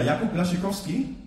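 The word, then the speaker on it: Jakub Błaszczykowski: Ja, Jakub Blaschikowski habe ich aber richtig ausgesprochen.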